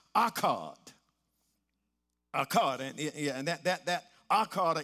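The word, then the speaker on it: echad: It's pronounced akkad. Akkad. And that akkad or ekkad word, it means one with multiple components.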